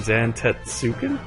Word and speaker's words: Zantetsuken: self low enough he will use zantetsuken Zam zantetsuken yeah yeah that's pretty much how you pronounce it um he'll use an Tatsu can